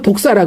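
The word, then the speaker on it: δόξα: 영광이 영광은 헬라로 독사라 그래. 독사. 독사 독사 영광이 우리가 정말 생각하 스네이크 독사가 아니라 발음이 독사야.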